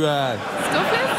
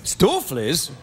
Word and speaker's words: stoofvlees: We would say stoofvlees. Stoofvlees? Yeah. Did I say it right? Yeah, you did. Stoofvlees? Yeah, correct. Do you have to lean back and open your eyes a bit when you say it? Yeah.